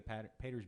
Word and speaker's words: Pater's: I gave you the Pater's beer. Is it, Yeah, yeah. Do you pronounce it Pater's beer or Patter's beer? Patters. Patters? Yeah. Patters beer.